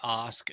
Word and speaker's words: Ask: You know, oddly enough, it's pronounced Ask. There's a town in Norway named Ask, and everybody says Ask because it's spelled like Ask.